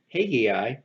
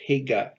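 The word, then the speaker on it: Hegai: to the custody of Haggai. There's another word that's spelt 2 different ways. You'll see it pronounced Haggai here, and you'll see it also as Hega, Hega, without the I.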